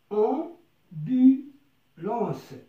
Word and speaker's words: ambulance: La première syllabe c'est on. لاحظ عزيزي هناك أ وأم، لا نقول أم، نقول on. Donc c'est une voyelle nasale, c'est une voyelle qui vient du nez.